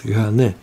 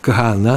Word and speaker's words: Кагана: Сейчас говорят Кагане. Ну, Кагана, нужно сказать.